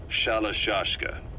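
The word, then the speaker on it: Shalashaska: By the time I got to hearing about it, pronunciation had wound up as Shalashka.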